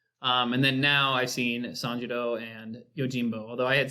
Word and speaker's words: Sanjuro: Is it Sanjuro or Sanshiro? Sanjuro. Sanjuro. Right? Yeah, Sanjuro. At least in English it's spelled Sanjuro for the Anyway, sequel.